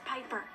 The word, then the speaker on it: Piper: change today Amanda Bynes the name's Piper rhymes with Viper and Robin Williams all